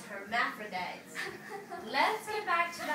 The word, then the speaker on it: hermaphrodites: And rabbitities. I said it wrong again tonight. Yep, you did, Flo. It's hermaphrodites.